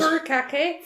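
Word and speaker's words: furikake: BAS may we have her how do you pronounce it fur Kake fur Kake that's going to be a fun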